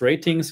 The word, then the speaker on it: RTINGS: And this one here, Artings pronounced ratings, yeah, but it's spelled Artings as you did.